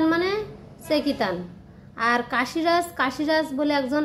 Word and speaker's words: চেকিতান: একসাথে বলছি তো পাঁচ নম্বর শ্লোকে বলছেন আবার উচ্চারণটা বলছি যে ধৃষ্ট কেতু চেতান ধৃষ্ট কেতুষ্ট কেতু দৃষ্ট কেতু চেকিতান সেকিতান মানে চেকিতান আর কাশীরাজ কাশীরাজ বলে একজন রাজা ছিলেন চ